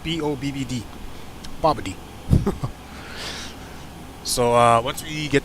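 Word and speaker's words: BOBBD: about 115 miles to babadi i call it bob d it's pronounced b-o-b-b-d bobody so uh once we get to about yeah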